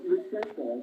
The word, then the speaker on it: Lutsenko: Lutsenko, I believe, yeah.